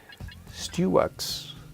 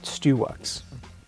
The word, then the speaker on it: Stewux: Stewux. That is the proper pronunciation of that. Stewux.